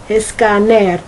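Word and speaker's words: escáner: I think it's escaner, a scanner. It has an accent on the A.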